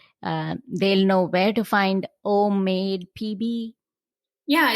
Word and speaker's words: OmMade: That way they'll know where to find OmMadepb. Yeah, it's all of my my website, all of my social handles. They're all OmMadepb. And I tell people OmMade rhymes with homemade.